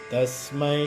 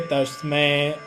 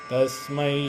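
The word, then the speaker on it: तस्मै: Remember, many people in the West they say Tasmai eh. It's not but I. Tasmai Shri Tasmai Shri Gurave Namaha.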